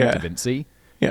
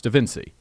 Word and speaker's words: da Vinci: do an entire video pronouncing Leonardo da Vinci Evan see ya and that was I was like no it's da Vinci and I was like